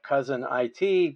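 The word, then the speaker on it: Cousin I.T.: to call it uh cousin i.t because she pronounced it cousin it like the adams family yeah i thought it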